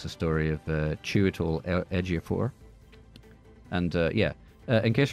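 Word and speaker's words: Chiwetel Ejiofor: going to win it's the story of uh cheol edor and uh yeah in case you're wondering that is how you pronounce his name chal edor I looked it up I even listened to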